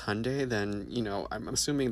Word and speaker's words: Hyundai: our people because Hyundai, pronounced like Sunday, not Hyendai like you're saying, is a Korean company.